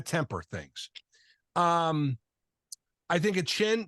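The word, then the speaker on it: Achane: things um I think a chin by the way that's how he wants his name pronounced that that was one of the things they talked about it was a chain people are calling him a chain no he wants a chin he said that but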